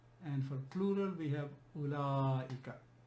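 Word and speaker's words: أولئك: And for plural we have ulaika. It's important to pronounce this ulaika, not ulaika, because wa is silent here. It's written but it's silent. There is a reason for that.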